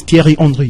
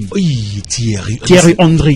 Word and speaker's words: Thierry Henry: The pronunciation is Thierry Henry. Thierry Henry.